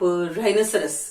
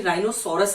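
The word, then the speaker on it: rhinoceros: जैसे कि आप राइनोसरस, राइनोसरस का एग्जैक्टली राइनोसोरस हम लिखते हैं, बट इट्स राइनोसरस।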